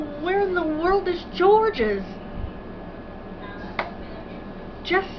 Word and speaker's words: Georges: not mispronouncing this name the reason his name is george's is because that's george in french they say atlantis um